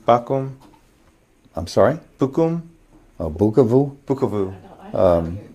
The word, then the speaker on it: Bukavu: okay and then bakum I'm sorry bukum oh bukavu bukavu pronunciations aren't matching up oh b u KU